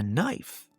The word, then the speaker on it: knife: "We call that a knife." "That's weird," responded Ga-nomee. "You can know it starts with a K, right?" Yeah," responded another villager. "But it is a silent K. We don't pronounce it."